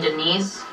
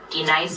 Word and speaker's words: Denise: Do you mean Denise? Son of a bitch. You say your name right now. Denise? Say it right. Denise. Correctly. Denise. Right. Denise. Right. D-Nice. That's better.